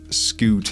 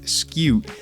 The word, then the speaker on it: scute: they will drop sco well apparently it's pronounced skew I have been saying it wrong all along all these years that I have been saying scoot it is really skew anyway they drop that